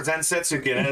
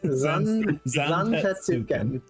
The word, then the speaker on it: Zantetsuken: is, and we should probably watch out for Zensetsuken because he's fucking Odin's fucking horse. You know, Roy is now is Odin's mount. where the fuck you pronounce Roy is that? not our boy; he's Odin's boy." Zantetsuken.